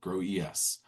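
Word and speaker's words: GroES: Oh, growl. Not the case. It's not the case. It's called grow eel or grow eel. Grow ees.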